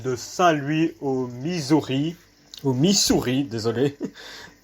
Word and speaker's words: Missouri: Au Missouri, désolé. Il y a double S donc ce n'est pas un Z dans la prononciation.